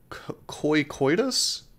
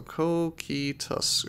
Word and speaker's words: Cocytus: Coitus? That's how you think it's pronounced? I think I'm gonna have to disagree with you, my friend, because it's spelled Cocytus, so Cocytus, or Cocytus, I guess I could see. But koi, where are you getting the koi from? There's a C-O-C, there's no C-O-Y-C.